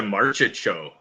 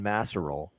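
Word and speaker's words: Marchessault: I hear that a lot March's show or Marsha show in Vegas it's the market show yeah John Marshall yeah yeah yeah at least none of that is better as bad as Don Cherry's pronunciation John massarole yeah yeah oh no that's even I know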